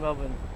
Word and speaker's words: Melbourne: how to say Melbourne, pronounce Melbourne, we say Melbourne. You go to Melbourne. When you go to here, the Bourne is not a Bourne, it's Melbourne.